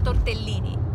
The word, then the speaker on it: tortellini: enjoy the famous tortellini the actual italian pronunciation is tortellini oops jump with the